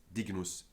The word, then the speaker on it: dignus: cases of the vowel before GN are actually pronounced short. Agnus, magnus, ignis, dignus, ignotus, not ignotus, dignus, ignis, magnus, and agnus,